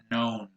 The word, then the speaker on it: known: Notice how the K is silent here. So you say known.